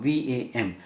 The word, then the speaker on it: VAM: So you have to pronounce it like this, LAM. Swadhisthana chakra is VAM, V-A-M, VAM.